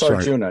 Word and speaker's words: Arjuna: It's Arjuna, just like the classic Indian myth. I thought that might have been pronounced with an H.